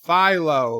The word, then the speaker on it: Philo: I did get it it's pronounced look Philo like Wi-Fi Philo I don't know did I mispronounce something I'm sorry rock-solid I'm here mrs.